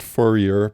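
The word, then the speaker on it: Fourier: these experiments with the forier integral or sometimes I hear people pronounce it furer but since I'm from New Orleans and you're from Canada I think we better go with forier but yeah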